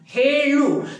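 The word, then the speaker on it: ಹೇಳು: तो फ्रेंड्स यहाँ पे हमें बिल्कुल अच्छी तरह से ध्यान रखना है, यहाँ पे जो है ना वो सेकेंड ला रहता है लु, जिसका उच्चारण जो है ना, ये हमारा मुंह है, जीभ जिसके उच्चारण में यहाँ पे टच होता है, हेलु।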